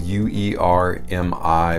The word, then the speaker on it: Uermi: house called UerMi, and that's, yes, UerMi, but it's spelled U-E-R-M-I, but it's pronounced UerMi, and it rhymes with UerMi, which is what it's trying to do.